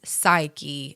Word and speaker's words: Psyche: I used to say Psyche, emphasis on the E, but it's Psyche, emphasis on the Y.